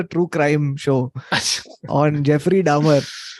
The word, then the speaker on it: Dahmer: crime show on Jeffrey Dahmer uh Dahmer okay that's the pronunciation okay yeah he was